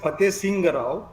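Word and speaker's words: Fatehsingh Rao: नहीं, ये फतेह सिंह राव ऐसा है उसका नाम, इट is pronounced as फतेह सिंह राव, ये पहली बात है।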